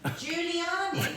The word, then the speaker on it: Giuliani: Giuliani. Rudy Giuliani. But it's spelled G-I-U. Giuliani. Can someone write it phonetically for me? Rudy Giuliani. With Julie.